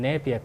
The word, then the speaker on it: Nepia: So basically, I heard that you start a new project which is growing in Nepia grass. Or did I pronounce it correctly? Nepia?